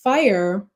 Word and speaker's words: FIRE: Is it fire or is it how you It is fire.